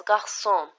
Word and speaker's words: garçon: This is really simple, so when we pronounce this, which is this letter, we pronounce as garçon, so we have the S sound.